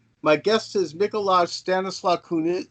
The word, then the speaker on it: Mikołaj: It's first name will be Mikołaj, and or you can simply call me Miko, and the last name is.